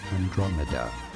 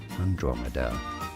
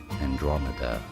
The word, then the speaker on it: Andromeda: It is normally pronounced as Andromeda. Andromeda. In American English, however, it is usually said as Andromeda.